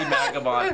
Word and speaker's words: Magibon: Is it pronounced Magibon or Magibon? Oh, that's pronounced Magibon. In old school YouTube, she was a pretty big deal back in the day.